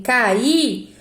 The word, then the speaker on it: caí: Ô, Pro, mas essa palavra tem como sílaba tônica forte a última. Então, eu posso falar que ela é uma oxítona? Sim, eu posso dizer que essa palavra é oxítona, porque a sílaba tônica é a última.